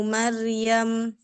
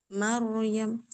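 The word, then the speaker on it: مريم: barisnya boleh dibaca wakaf tapi rnya tebalkan lagi coba Mar Ibnu Maryam Hual Masihu Huwal Masihu Bnu Maryam Maryam tebalkan lagi. Hual masih huwal masihu Huwal Masihu Bnu Maryam Maryam Huwal Masihu Maryam Maryamu masuk ke ro naikkan pangkal lidahnya Maryam Maryam halal Masihu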